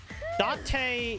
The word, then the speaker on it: Date: Date is how you pronounce it in Japanese. D-A-T-A. Because D-A is da and T-E is te.